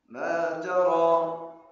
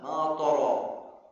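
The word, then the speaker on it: مَا تَرَىٰ: Setelah ma ada huruf ta. Banyak waktu taal ma. Ma jangan ma. Karena huruf ta tebis. Ma ro tebal mataro. Ma taro ini yang benar yang salah. Ma tha ma tha salah tha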